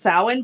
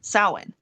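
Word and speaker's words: Samhain: from the Gaelic word it's also pronounced Salin but it's s-a-m b-u-i-n is the original spelling of it okay so it originates from Celtic uh Celtic paganism however yes sowin but it the okay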